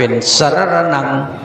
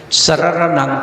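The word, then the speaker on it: สะระณัง: กรร เมือง เนี่ย นะ จะ ต้อง อ่าน เป็น สระ ระณัง สระระ นัง สระ ระณัง คัจฉามิ นะ เหมือน กับ ถ้า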